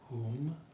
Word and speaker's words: Hūṃ: sing a simple seed the syllable this week is whom which we might spell h o o m something like that whom and we'll just